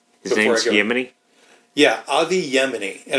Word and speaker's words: Yemini: Yeah, Avi Yemini, and it's spelled exactly like Yemen the country with an I on the end.